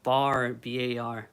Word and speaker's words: BAR: I always pronounce it B A R.